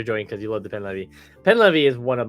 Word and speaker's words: Pen Levi: Pen Levi? Is that okay? Is Pen Levi.